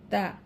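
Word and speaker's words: ط: লক্ষ্য করি আমরা আগে এই দাল আর তা পড়েছি, দাল, তা। এই দুটি হরফের মাখরাজ যেখানে, এই ত হরফের মাখরাজ একই স্থানে, কিন্তু এটি হচ্ছে মোটা হরফ হওয়ার কারণে এটি একটু গাল ভরে উচ্চারণ করতে হবে, গাল ভরে উচ্চারণ করতে হবে।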